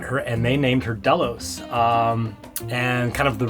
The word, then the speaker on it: Delos: name first of all it's short it's easy to say two syllables and it's easy to a phonetically spell on the radial Delta AKO limo Oscar Sierra so it's not a